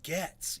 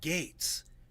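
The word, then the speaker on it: Gaetz: say the word gate why do you say gets you're a my God hey man turn the TV on and listen to someone else pronounce his name it's Matt Gates you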